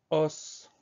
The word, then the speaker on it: os: Mais attention, attention, attention, on va dire au singulier, on va dire un os, mais au pluriel, on dira des os. On prononcera plus le son S.